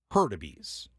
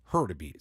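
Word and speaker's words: Hurtubise: u b i s e and it is herbes herbes so to the heres family I'm sorry for not pronouncing it right the first time I've got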